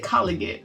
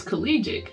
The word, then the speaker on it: collegiate: was saying it and i kept saying i said collagen and ramona looked at it he said it's collegiate so am in my defense